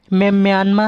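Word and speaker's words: Myanmar: सी भाषा बर्मी भाषा बर्मी भाषा में रा का उच्चारण या किया जाता है अतः सही उच्चारण म्या है और इसका पुराना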